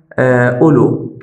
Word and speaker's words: أولو: نحن نطقنا أولو، يعني الواو التي في الوسط لم ننطق بها، أولو مباشرة من الألف لللام كأنها في ضمة بعد يعني على الهمزة، فنقول أولو. إذا هنا الواو التي في الوسط لا ننطق بها.